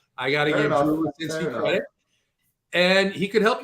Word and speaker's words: Rucinski: Arizona Diamondbacks, Oakland Athletics, Merrill Kelly, Drew Winkowski in the mound. I did not pronounce his last name right, but the D-backs have a pretty high total.